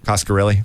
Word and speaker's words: Coscarelli: Coscarelli.